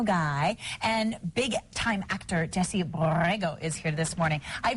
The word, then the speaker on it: Borrego: I flip back and forth between rolling my R's and not rolling them because I don't do it very well. Yeah. How are you? You do it? What are you talking about? Borrego. Roll your R's and there you are.